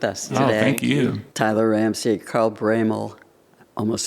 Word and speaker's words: Broemel: Tyler Ramsey, Carl Braymal. Almost said it wrong. Cuz the letters are not There's no A.